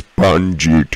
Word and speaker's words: Panjit: But it's pronounced Panji. Well, you're saying Panji. That is like a spongy Panji, something like that. It is Panjit. At the end there is a T.